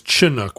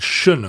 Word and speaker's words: Chinook: Right, and it is the accepted pronunciation now is Chinook with a hard ch.